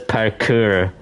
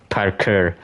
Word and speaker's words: parkour: supposed to pronounce it parkour It's almost sounds sounds like you're saying the word Parker or the name Parker, but it's Park Parker. Parker, that's how you say it. It's the French way.